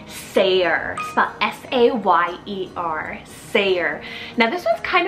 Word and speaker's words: Sayer: list here we have the cool name Sayre s-a-y-e-r Sayer now this one's kind of like an